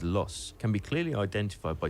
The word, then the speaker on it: Loos: southern boundary of the 6mile long loose Battlefield pronounced locally as loss can be clearly identified